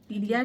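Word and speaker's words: Ptelea: पी इसमें silent होगा ना. टीलिया ट्राइफोलिएटा.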